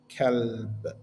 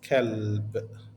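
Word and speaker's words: كلب: will read this word, kalb. What is this word consist of? Which means dog. It will be written as ka plus L plus ba. So it's kalb. Okay? Kalb, how we pronounce it.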